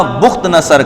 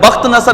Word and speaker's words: بخت نصر: آتا ہے اور دوسرا بخت نصر کا۔ یہ 2 شخص ایسے تھے کہ انہوں نے پوری دنیا پہ، بخت نصر بھی بعض پڑھتے ہیں لیکن اصل اس کا تلفظ بخت نصر ہے، تو انہوں نے دونوں